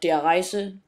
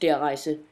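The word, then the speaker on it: Der Riese: War will be in Black Ops there are dries or diaries as a lot of people call it but it is pronounced their eyes and I have the German in school I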